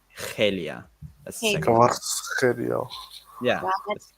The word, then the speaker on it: Kvaratskhelia: There's a lot of like back of the throat sounds that you have to make.